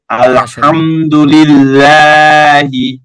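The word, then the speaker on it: الحمد لله: লাম খাড়া যাব লা, লিল্লাহ, হাজের হি, লিল্লাহি, আলহামদুলিল্লাহি।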